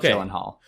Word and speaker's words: Gyllenhaal: in the Jake Gyllenhaal so Jake Gyllenhaal okay not silent it's Jake Gyllenhaal so I wasn't sure